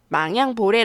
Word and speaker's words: 망양보뢰: 있는 오늘의 사자성어 입니다 이번엔 도금 읽어 볼게요 망 양볼에 라고 읽습니다 그런데 망향 이라는 글자가 조금은 익숙하게 느껴지지